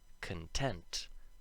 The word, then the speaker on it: content: and contagious um so let's have a look at content the adjective if the first syllable was emphasized like in the noun content it would make the short o sound instead of this so that's something to keep